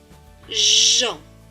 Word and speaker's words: Jean: halle jcj ea et n e earl se prononce ici en c'est le prénom jean jean alors plus loin d ea et n